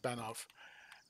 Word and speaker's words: Banov: i think it's pronounced i think it's pronounced banoff and um oh oh